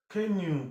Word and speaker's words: canoe: Canoe. Please watch and study it well. Canoe, the OE gives you ooh.